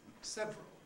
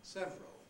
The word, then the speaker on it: several: changes us into several now i think what we mostly say is several and i suspect there are many speakers who have no other possible pronunciation than several who don't have the option of several left anymore because if one always